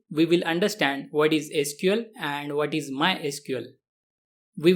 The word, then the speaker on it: SQL: to pronounce the language some developers pronounce it as letters sql while some pronounce it as a word sequel both the pronunciations are widely used and recognized as an official iso standard spells and pronouns the language as letters sql we can say the most correct way to pronounce the language is as letters sql but as